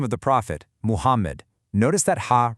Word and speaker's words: Muhammad: Think about the name of the prophet, Muhammad. Notice that ha right in the middle? Yeah, that is not an English H. It's actually pronounced from the middle throat with a dry, breathy push.